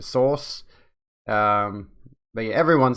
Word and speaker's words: Seuss: a while back that it was pronounced dr seuss and then ayla says pronounced dr sauce um but yeah everyone